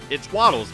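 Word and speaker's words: Wattles: His channel is spelled W-A-T-T-L-E-S, and it's Waddles. It is Waddles on Twitter.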